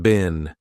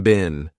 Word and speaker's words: been: Now notice I said been, a very unstressed been.